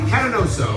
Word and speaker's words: Catanoso: Tony Catanoso. Tony, did I pronounce that right?